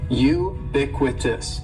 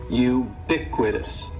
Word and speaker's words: ubiquitous: word is ubiquitous and ubiquitous has four syllables that first syllable is is just like you're saying the letter u ubiquitous and the stress is going to be on that second syllable ubiquitous ubiquitous ubiquitous ubiquitous means